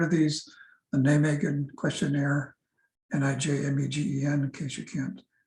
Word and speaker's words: Nijmegen: The two good questionnaires for hyperventilation are, I'm sure you've heard of these, the Nijmegen questionnaire, Nijmegen, in case you can't pronounce it right, and the self-evaluation of breathing questionnaire by Roselle McCourtney.